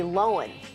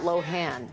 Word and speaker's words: Lohan: Celebs whose names we mispronounced for years. Lindsay Lohan is Lindsay Lohan, not Lohan.